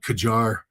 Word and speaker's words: Qajar: In Tehran, we're blowing up some of the old Qajar. And again, I might be mispronouncing that.